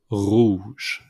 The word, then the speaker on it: rouge: will begin with the basic red red is pronounced Rouge the second one yellow is J Jone orange